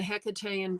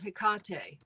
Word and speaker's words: Hecate: Ken pronounces it Hecate. I had always heard Hecate, but you know, I don't guess it matters. But I guess Hecate sounds more elevated, doesn't it?